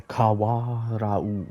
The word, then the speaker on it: Kawarau: The Kawarau River. Kawarau. Kawarau. Kawarau. The Kawarau River. Kawarau River. The Kawarau River. Kawa'arau. Kawa'arau. Kawa'arau River. Kawa'arau River. That's how you say it.